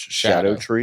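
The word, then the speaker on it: Scadutree: did yall know that I actually heard that that is supposed to be pronounced Shadow tree yes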